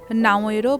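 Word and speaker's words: Naoero: এখন থেকে দেশটির নতুন নাম নাওয়েরো প্রজাতন্ত্র। স্থানীয় ভাষায় উচ্চারণ ও বানানের সঙ্গে মিল রেখেই এই পরিবর্তন আনা হয়েছে।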